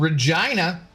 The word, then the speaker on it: Regina: Um, and there's also a city in Saskatchewan that's called Regina.